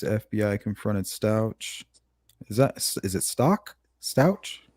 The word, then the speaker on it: Stauch: Is it Stock? Stauch? How do you say that? Stauch. It's pronounced Stauch.